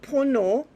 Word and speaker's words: pono: We pronounce the word pono, and pono means in Maori truth.